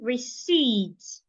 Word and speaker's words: receipt: I should not say receipt. The P should also not be heard say receipt.